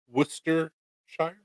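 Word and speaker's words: Worcestershire: use a lot of Worcester Shire which is the proper way to say it um by expensively imp parents it will change the trust me I use Worster Shire for a lot of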